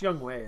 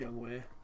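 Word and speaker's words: Younghoe: you say his name it's young Wei isn't it yeah it's spelled young ho but it's a young way yeah Devo Samuel man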